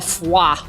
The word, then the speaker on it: foyer: Yeah, well, if you want to get real Foyer. French, that's about not pronouncing it, so just be like, in the foie. And the Yeah. And then just make a shrug sound.